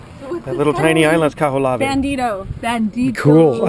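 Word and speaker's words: Kahoʻolawe: It's a hard name to pronounce. Kaholave.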